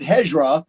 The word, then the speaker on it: Hejira: mexican dj jamie yeah then jamie said hezra so from now on it's hedgerow because i mean he's he's a muslim so he knows the pronunciation so i respect that knowledge so did you eat